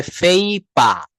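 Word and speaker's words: paper: এটাকে ফেনশল আমরা পেপার বলি। এটাকে ইউকে একসেন্টে বলা হয় ফেইপা। এই পা এখানে শেষের আরটা বলা হয় না।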